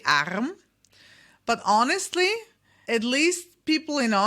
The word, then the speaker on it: Arm: However, this R is not always pronounced as R. So you can say in this particular word, you could say Arm, but honestly, at least